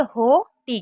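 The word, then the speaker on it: haughty: तो इसे क्या पढ़ेंगे, हो टी, क्योंकि जी एच हमारा साइलेंट है और लास्ट में वाई को हमेशा ई पढ़ा जाता है।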